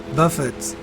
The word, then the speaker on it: Buffett: Yeah, they say Buffett, right? But the way I said it could be the right way to say it. It's not buffet like food.